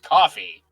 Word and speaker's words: Ko-fi: I think it's supposed to be pronounced coffee.